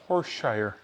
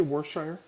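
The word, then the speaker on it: Worcestershire: 1/2 a cup now this one nobody can say it correctly nobody can say this correctly horse Shire whoa Mauritius can you say war sure say it ok pour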